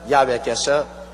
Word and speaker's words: 야훼: 왜냐하면 원래 일을 행하시는 여호와 그 일을 지어 성취하는 야훼 하나님이신데, 야훼라 해도 좋고 여호와라 해도 좋습니다. 그러나 야훼란 말이 더 정확한 발음입니다.